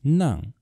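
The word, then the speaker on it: 齉: It is pronounced nang, and it means to have a stuffy nose.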